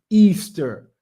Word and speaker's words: Ishtar: um became known as ishtar which is pronounced easter and our moon egg